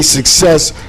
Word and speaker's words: SVCCESS: do you say it i say success clothing that's how it says it right yeah but the v be throwing everybody off no but in the